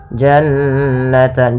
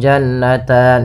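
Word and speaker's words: جَنَّتَانِ: nunnya ditahan dua harakat Janan jannan jangan langsung jannatan sering terjadi tidak menahan gunahnya kemudian ini kembali lagi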